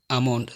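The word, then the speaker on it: almond: এই শব্দগুলোর এল সবসময় সাইলেন্ট থাকে, যেমন কাফ, হাফ, সাভ, বাম, খাম, পাম, চক, টক, walk, code, should, would, colonel, folk, yoke, Lincoln, আমন্ড, সেমন।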